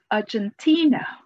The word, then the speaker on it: Argentina: Argentina, Argentina. The stress is on the third syllable.